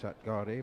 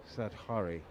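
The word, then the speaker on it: Satghare: I've been saying Satgari, but it's that might be. What's a soft G?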